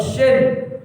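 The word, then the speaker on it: ش: Kalau shin bacaannya tebal sya.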